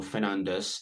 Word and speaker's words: Fernandes: And I still think that Bruno Fernandes is going to finish with the most assists. Uh so, I know it's pronounced Fernand, right? Uh Portuguese.